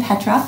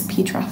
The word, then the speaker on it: Petroff: We are here today with Emily Petroff. Thank you so much for coming. It's Petroff. Oh, Petroff.